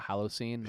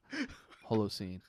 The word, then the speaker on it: Holocene: People call it Halocene. I'm like, no, it's an O. Holocene.